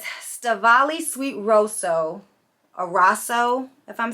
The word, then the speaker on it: Rosso: It says Stavali Sweet Rosso, or Rosso, if I'm saying that right.